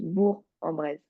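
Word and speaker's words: Bourg-en-Bresse: Bresse mais en fait dans ce nom-là de ville on prononce pas le G donc c'est juste bourg en brise oui voilà mais c'est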